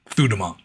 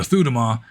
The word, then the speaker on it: Sudhamma: So, the two main sects are Shwegyin and Sudhamma cuz S is pronounced like TH in Burma. Thudhamma. And so, most monks are Thudhamma.